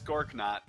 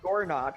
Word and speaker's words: Gorknot: Just asking, is it Gorknot or is the K silent? No, it's Gorknot. Okay. I thought it was funnier that way, so Gork is not black nut. I you wanted could have it Gornot with a silent Yeah, no, I know.